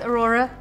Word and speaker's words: Aurora: It rhymes with your name, Noora. It does, Aurora. Noora.